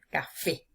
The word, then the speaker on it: café: la ante penúltima sílaba fíjense aquí en la palabra café se carga la voz con mayor intensidad en la última sílaba que es fe café hay última sílaba es